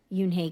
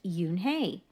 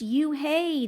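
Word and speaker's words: Unhei: up her face some kids chanted no no Yoon hey corrected it's spelled u n h e i it's pronounced Yoon hey oh it's you hey the boy said like you hey what about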